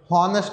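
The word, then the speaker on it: honest: Silent H जिससे हम कहते हैं जी ऑनेस्ट, ऑनेस्ट नहीं बोलते, ऑनेस्ट, तो एच हमारे इसमें साइलेंट है, तो इसके साथ हम एन यूज़ करेंगे. जैसे आर, हाफ एन आर, हार नहीं बोलते, आर कहते हैं, तो इसके साथ भी हमारा एन यूज़ होगा.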